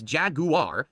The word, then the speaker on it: Jaguar: single car ins sight their new logo is Jaguar emphasizing the British pronun Jag no Jagua here